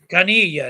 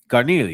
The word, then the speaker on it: Carneglia: So Carnelia, that's how you say it. Carnelia, yeah. I mean, there's only one news reporter. The G is silent, right?